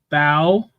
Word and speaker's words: Bow: You said Bow. It's Bo. Bo, sorry.